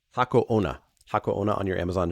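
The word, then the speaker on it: Hako Onna: You spelled the name wrong. What is it actually called? Hako Ona.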